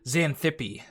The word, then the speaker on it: Xanthippe: God, how do you pronounce that name? Scroll down through my comments. Yes. Xanthippe.